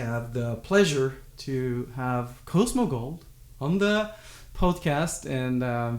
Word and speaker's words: Cosmo Gold: that means a lot so uh your band Cosmo gold am I pronouncing it correctly yeah I love based alternative